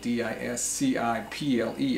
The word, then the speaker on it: disciple: difficult the ascent to begin the sea there is silent another word is disciple disciple D is CI PL e is not disc Eiffel but disciple a disciple